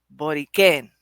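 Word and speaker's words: Borikén: But when it's spelled Boriken, there's an accent on the E. So it's Boriken.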